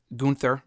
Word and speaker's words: Gunther: uh maybe at WrestleMania why did I say it like that g g that sounds like a theme song uh gun Gunther whatever you want to call him Gunther that's what I should have said why the [ __